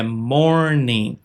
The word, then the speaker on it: morning: Mais uma vez, a gente não pronuncia o G aqui no final, é morning. Nenhuma palavra que termina em in g a gente pronuncia o g, ok?